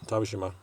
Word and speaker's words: Tashima: person and so yeah tashima it rhymes with Hiroshima just in case you need